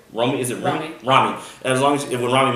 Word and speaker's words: Rami: Rami.